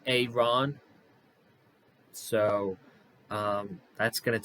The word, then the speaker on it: Aaron: his press conference that he pronounces his name Aon so um that's going